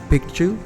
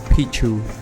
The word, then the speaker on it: Picchu: you pronounce machu picchu you have to really say picture instead of pichu because in question which is the native language of the inca pichu means actually penis so don't say it